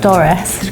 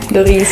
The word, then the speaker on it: Dorise: So we've discovered her name's not Doris, pronounce it. Dorise.